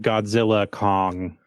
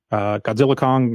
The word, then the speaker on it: Godzilla x Kong: Yeah, I think it's just like Godzilla Kong: The New Empire. That's technically the way it's pronounced. Okay. You don't pronounce the X, but I know that's kind of weird.